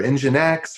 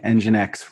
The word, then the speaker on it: nginx: No load balancer, not even like Apache or NGinx or any of that.